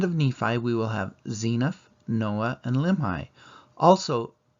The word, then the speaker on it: Zeniff: always pronounced it as zeniff but if you look at the Book of Mormon pronunciation chart the e is long so it should be